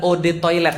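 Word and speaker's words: eau de toilette: Eau de toilete artinya adalah od toilet bacanya.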